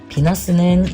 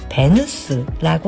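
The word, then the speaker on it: Venus: 비너스는 영어식 발음이고 원래는 베누스라고 하는 고대 이탈리아의 여신 이름이에요.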